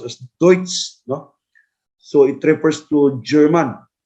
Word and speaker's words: Deutsche: that is not Judes niana that is correctly pronounced as Deutsche so it refers to German Deutsche industry Norman Deutsche industry Norman that is German